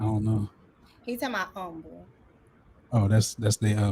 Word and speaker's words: Humble: he said yes the h is solid like wild cat i mean it h is silent wildcats i don't know he's in my humble oh that's that's the